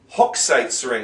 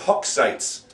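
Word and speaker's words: Hochzeitsring: tanen Bal it's a Christmas tree of course hook sites ring that's a tricky word hook sites hook sites ring and this is a monster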